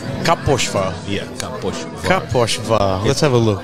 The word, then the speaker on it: Kaposvár: To be really, the best place for me to go is Kaposvár. Kaposvár? Yeah, Kaposvár.